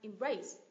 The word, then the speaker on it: embrace: là từ gì nhở embrace embrace động từ của hai âm tiết nh â tiết thứ hai embrace embrace đình chỉ hoặc